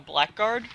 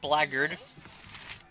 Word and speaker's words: blackguard: the way to go he's a blackguard or as it's pronounced blaggard um the game tells